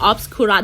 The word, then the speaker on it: Obscurus: นี้ obscurus ใช่ ป่ะ แต่ ถ้า เรา ฟัง เสียง ใน เกม มัน จะ เหมือน อ คิ อ่ะ เออ มัน จะ ออก เสียง แล้ว อ คิ แต่ จริง ๆ มัน คือ obscurus นะ คะ อัน นี้ ค่อน